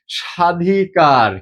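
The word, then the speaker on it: স্বাধিকার: শুরুতে বফলা যদি থাকে শব্দের প্রথম বর্ণে বফলা যুক্ত হলে ব এর উচ্চারণ সাধারণত অনুচ্চারিত থাকে কিরকম আমরা যে বলি সাধিকার কি বলি সাধিকার দেখোতো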